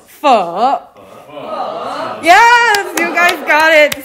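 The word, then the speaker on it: phở: Yeah, everyone say pho or like pho, but it's pho.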